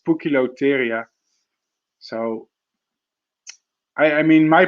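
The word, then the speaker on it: Poecilotheria: uh speak latin but i'm pretty sure it sounds something like a puke lotteria and not post cylotheria it's pukilotyria so i i mean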